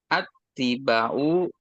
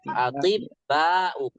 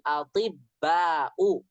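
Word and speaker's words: الأطباء: Atibba'u. Oh ya. Ahaulail attiba'u muslimuna. Ulangi lagi. Ulangi lagi. Bacanya yang benar. Aha ula il atibba'u. Ahaulail attiba'u muslim. Atibba'u. Bukan attiba'u.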